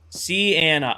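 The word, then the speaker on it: Siena: I know you told me how to pronounce it. Hi. Welcome in. Nope. Yep. Put that away there. See Anna.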